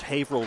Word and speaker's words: Haverhill: I pronounced Haverhill wrong on a Hard Rock stage. Haverhill, Haverhill. Haverhill.